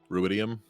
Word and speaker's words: ruidium: crystal look like iridium? Yeah, it had like that red veiny, you know what I mean, like the red veins running through it. Yeah. Ruidium. Yeah, ruidium. We've been saying it wrong this entire time.